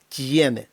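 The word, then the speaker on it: tiene: бун оїдо оце от слово тєне воно звучить по-нашому так як ніби після букви Т іде м'яккий знак а потім наша буква є тьєне тьєне тому що і е вони фактично утворюють наш звук є якого немає в алфавіті щоб передати іншою буквою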